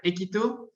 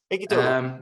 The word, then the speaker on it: Equito: Well, it depends on the country that you are in. In Spain, they say more Equito. Equito. Yeah, but we say Equito, like equity, but ending with an O.